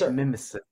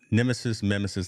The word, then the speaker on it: Mimesis: So it's Mimesis. That's how you say it. Mimesis Labs. Yeah. So Mimesis, that kind of thing.